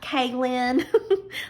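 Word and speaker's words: Kaylynn: thought it was like k lynn like kaylin like k-a-y-l-y-n-n you know like two separate words kaylin um so we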